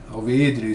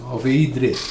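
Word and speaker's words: Alveydre: Alveídre se escreve com Y, Alveídre, né? Mestre marquês de Alveídre.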